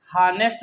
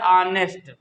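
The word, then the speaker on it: honest: अब यहाँ पे एच है साइलेंट, इसको हानेस्ट नहीं लिखते हैं, इसको क्या लिखते हैं? इसको लिखते हैं भैया ऑनेस्ट। ऑनेस्ट, तो आ की साउंड आ रही है, तो इसलिए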